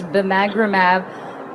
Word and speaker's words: bimagrumab: So the first one would be a session from this morning, and it was looking at bimagrumab, which I've learned how to pronounce, bimagrumab plus semaglutide.